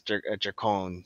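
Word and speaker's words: Drakkon: Jason David Frank says Dracon. Dracon. Which just sounds pretty cool. Dracon. I like saying it that way.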